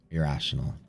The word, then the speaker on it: irrational: rational I hate that rational and irrational that second syllables sometimes sneaks away irrational right sounds it sounds the same should we invent new